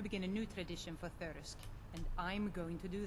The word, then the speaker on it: Thirsk: go back to thirst thirsk and uh i keep pronouncing it thirst and i'm sure that's